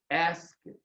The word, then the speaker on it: asked: You see, you do write I ask with the ED, but the sound here is ask. I asked.